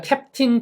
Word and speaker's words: captain: 그런데 이거는 캡틴도 맞아요 그런데 이것도 역시 예외 없이 여기 엑센트가 있거든요 여기 액센트가 있어서 실제 사전식 발음은 캡틴이라고 써 있지만 언어민 중에이 발음을 캡틴 이렇게 인을 강하게 하는 사람은 없어요 그러니까 탭을